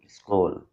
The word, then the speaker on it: school: School, as in the word school. So sa, ka, long u, la.